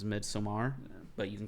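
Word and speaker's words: Midsommar: came out in theaters a lot of people are calling it midsummer but technical pronunciation is mid some are but you can call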